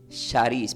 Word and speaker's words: charis: Se pronuncia como charis, para los que quieren anotar, C de casa, H, A, con acento, R, I, S.